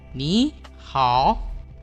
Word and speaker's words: 你好: Kalau ketemu nada 3 dengan nada 3, yang ini kita bacanya setengahnya aja. Kita baca yang nada 2, baru dia nada 3. Jadinya adalah 2 dengan 3.